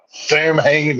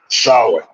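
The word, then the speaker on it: Samhain: Halloween or do you just do no s Sam Han is how the Americans pronounce it solid is how it's originally pronounced and that's part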